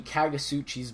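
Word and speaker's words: Kagutsuchi: Ultimate Fire, or the Kagasuchi's Blood. Now, nailed the name. Yeah, it is pronounced like that. The T is silent.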